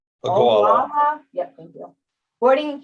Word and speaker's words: Ogallala: This is boarding pupils at Ogallala. I'm not saying it right. Ogallala.